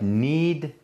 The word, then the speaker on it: knead: one side that's like n-e-e-d you like knead the bread like you okay he's got a k at the b oh he's got a kale it's a silent k like a lot of